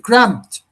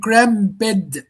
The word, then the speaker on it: cramped: Some people would mispronounce this word saying cramped. If you say cramped, like the way most of the Arab people say it, that's incorrect. That's incorrect. It's incorrect because here you pronounce the word cramped in 2 syllables, cramp and bed, and that's incorrect. Yeah. But the correct pronunciation for this cramp, just 1 syllable, cramped.